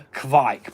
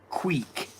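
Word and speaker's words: kveik: Next up, I have got either a I call it a kvike, but it's pronounced quake and it's Norwegian um for yeast beer.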